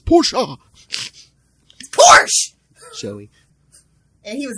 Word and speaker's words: Porsche: put some gas in my ferrari hey oh porsche my fault it's porsche porsche joey and he was italian that's just